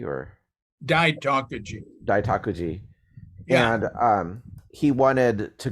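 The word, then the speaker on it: Daitokuji: I was just talking to someone who spent a couple years at I always mess up this pronunciation. Is it Daiyutakuji or Daitakuji? Daitakuji.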